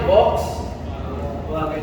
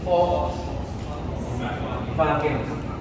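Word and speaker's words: Volkswagen: yung ano pag tawag natin ang tawag natin box wag pero the the real pronunciation is fo vagen German Fox mean means What people and vagen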